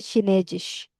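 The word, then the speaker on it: Chinesisch: हाँ शीना, और चाइनीज को बोलते हैं शिनेजिश।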